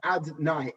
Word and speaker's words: Adonai: That level of Yud Kei Vav Kei, right now we do not pronounce that name as it is written. Instead, we pronounce it as Adonai, Aleph Dalad Nun Yud.